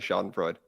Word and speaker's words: schadenfreude: pronunciations all the time it's definitely not schadenfreude it's definitely shot and Freud that's a mic drop